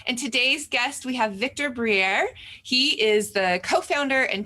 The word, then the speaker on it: Victor Briere: And today's guest, we have Victor Briere.